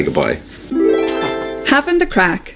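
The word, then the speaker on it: craic: Having the crack, spelled C-R-A-C-K. That's definitely not Irish. Having the crack, I mean, that would be like literally smoking a crack pipe. The Harlem version of cocaine. No, not Irish. Not Irish. It's spelled C-R-A-I-C, incredibly Irish. But I think it would get confusing if you spelled it C-R-A-C-K. What's the crack?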